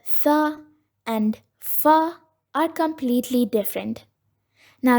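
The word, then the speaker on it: ثاء: The original sound of this letter is Th. Th. Now most of us may get confused with the sound of this letter and the letter F, Fa, but these two are completely different in the way we pronounce it.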